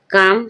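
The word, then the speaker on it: calm: बाद जब एम आए, एल के बाद एम आ रहा है, जब भी एल साइलेंट है। पाम, पाम मीन्स हथेली। काम, काम मीन्स शांत।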